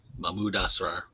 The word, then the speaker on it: Mahmoud Asrar: Mahmoud Asrar.